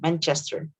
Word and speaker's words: Manchester: So with clear ch, Manchester.